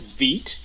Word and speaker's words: Vite: So it's pronounced Vite. Oh, sorry. Yeah. It's a French word for fast.